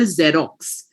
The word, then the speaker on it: Xerox: For example, Xerox, it starts with an X but you pronounce it with a Z, right?